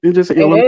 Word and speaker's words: Illinois: Well, I thought the S was silent. It is Illinois. It is. It is silent. When people say Illinois, it drives me crazy.